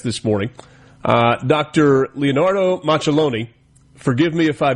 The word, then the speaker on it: Macelloni: Machiloni, good morning. Good morning and you have uh uh pronounced my name perfectly.